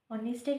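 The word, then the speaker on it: honest: যেমন এইচ ও এম এসটি অনেস্ট এইচ ও ইউ আর অনেস্টের ক্ষেত্রে এইচ এর উচ্চারণটা উজ্জম।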